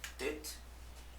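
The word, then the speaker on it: ט: Então a pronúncia é Tet. A transliteração dela é a letra T, tá?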